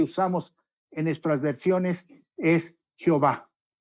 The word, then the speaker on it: Jehová: don ahí lo que dio una pronunciación semejante a jehova o más correctamente dicho ya ve así la forma latinizada del nombre de dios que usamos en nuestras versiones es jehová y el texto latino